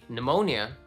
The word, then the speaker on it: pneumonia: Silent P. Pneumonia. That's a silent P.